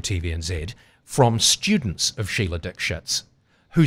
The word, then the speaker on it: Dikshit: The official pronunciation was Dikshit.